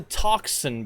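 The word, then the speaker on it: tocsin: bells started sounding and that word toxin bells gets said a lot in history podcasts and history documentation but it's not spelled how you think it's spelled it's not t-o-x-i-n it's t-o-c-s-i-n and it doesn't mean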